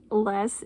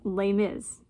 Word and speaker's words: Les: So, I know less is not pronounced that way. This is like lay miz, right?